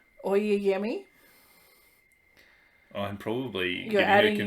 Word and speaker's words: Oyeyemi: Oyeyemi. I'm probably You're getting her confused with a different writer. You're definitely adding in an extra M when you say it.